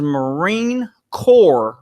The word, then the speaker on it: Marine Corps: everybody core everybody knows you don't say marine corpse the S is silent it's Marine Corps well I didn't know